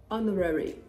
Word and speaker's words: honorary: pronouncing it honorarium honorarium same goes for honorary honorary only that the stress is on the first syllable in this case in